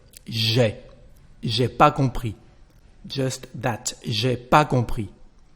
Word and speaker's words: compris: Je n'ai pas compris ce que vous venez de dire. I did not understand what you've just said. Compris, so we don't pronounce the final S.